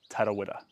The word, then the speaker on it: Tarawera: So when you say Tarawera, you actually roll the R's to say it with correct pronunciation, similar to Spanish, but not too many. Not just one. Tarawera.